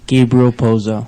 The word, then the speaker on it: Gabriel Pozo: sure I say that right uh could you pronounce that for me Vilma rello RAV and then and you are Gabriel poo ah yes I want to say thank you